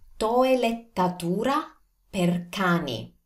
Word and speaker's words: toelettatura per cani: Now, I know this is a mouthful, but you can do this. Just slow down and pronounce each vowel. Take the right time for each vowel and you will have it.